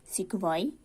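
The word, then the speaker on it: sequoia: सी सिक्वॉय, pronounced सिक्वॉय, a tree found in California, USA.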